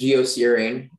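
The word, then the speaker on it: geocerain: repeat all the information the words only pronunciation is geocrane it's a noun um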